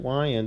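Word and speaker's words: Weiand: I mean, I love that, the Wyand, and it's pronounced Wyand if you check out the old school ads.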